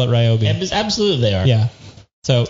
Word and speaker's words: Ryobi: want to pronounce it it's ryobi yeah well i i thought it would be a fun drinking game to see how many times they pronounced it correctly during the live feed and it would not have been healthy no and they never pronounced it wrong no it was it was always ryobi like they're like listen